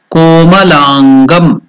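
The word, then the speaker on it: कोमलाङ्गम्: Next word is komalangam. Ko is elongated, that is dirgha. Then langam. La is also dirgha. 2 unit of time is taken to pronounce it. So together komalangam.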